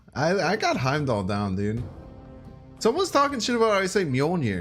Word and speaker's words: Heimdall: games I was watching another stream where earlier pronounced that heme doll I I got Heimdall down dude someone's talking about